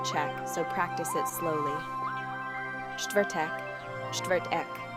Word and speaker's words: čtvrtek: Čtvrtek, čtvrtek. This one's a mouthful. Break it down. Čtvrt is a single sound, then eek like Beck without the B. Take your time with this one.